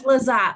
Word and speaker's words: Lizotte: of our panelists, Lizotte. Is that the correct pronunciation? It's Lizotte, but I'll answer to almost anything.